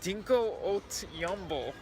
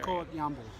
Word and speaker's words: Dinko Valev: We met Dinko Valev. That's how you say it? Yes. I mean, that's how he's known in Bulgaria. Dinko Valev.